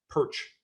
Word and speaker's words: Pyrcz: unsure about my name just say it like that perch and it's perfect you say as well